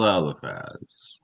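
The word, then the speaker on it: Eliphaz: There are moments where the spelling is a little bit different, but the pronunciation is not. So, elephaz with an f or laz with a ph. Guess what? It's still elephaz.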